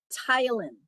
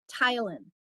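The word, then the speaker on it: ptyalin: So we uh the salivary glands secrete saliva called tylin. So the P is silent. Yes. secret right there. Know that Tylen Tylen P T Y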